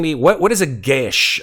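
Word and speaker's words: geas: what what is a Gish it's actually the pronunciation of the word it pronounces it depends where in Ireland you're from um but it is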